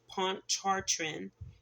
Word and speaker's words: Pontchartrain: A beloved black resort and recreation area on Lake Pontchartrain Pontchartrain uh it's spelled p o n t c h a r t r a i n.